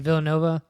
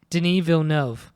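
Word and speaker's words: Denis Villeneuve: Is it Villanova? Bill Viva. I butchered that.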